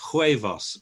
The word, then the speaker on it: huevos: about the third one so the h isn't there huevos but it's sort of there isn't it okay they